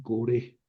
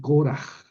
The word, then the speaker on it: Coraj: Coraj, pero es que en la Biblia ponen coré y yo a veces me confundo y pongo como ponen en las Biblias, pero aquí dice Coraj, es la es la es la pronunciación.